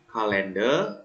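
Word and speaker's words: colander: Kalender ya, meskipun di sini O dibacanya A ya, kalender yaitu adalah wadah saringan ya, wadah saringan seperti ini ya, biasanya digunakan untuk tempat nasi ya.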